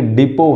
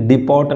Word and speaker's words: depot: के जो वेपन्स के डिपो हैं, DEPOT, डिपोट नहीं है, डिपो है, टी साइलेंट है, तो उन्होंने गवर्नमेंट के